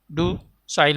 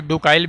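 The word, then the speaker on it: docile: है, तो टेम का डू साइल हो जाएगा, ठीक है। कुछ लोग इसे डुकाइल भी पढ़ते हैं जो कि उच्चारण गलत है, ठीक है, इसको डुसाइल ही कहा जाता है।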